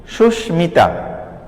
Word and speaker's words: সুস্মিতা: দেখো এখানে আমি লিখেছি সুস্মিতা, সুস্মিতা, এই মিতা ময়ের কিন্তু উচ্চারণ হয়েছে সুস্মিতা।